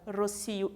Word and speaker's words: rocío: Então, temos destacados aqui a palavra rocío e colibri, a sílaba tônica aqui está destacada, cio e bri, e aqui no segundo, em los harapos, suele haver mais história que em las etiquetas, né?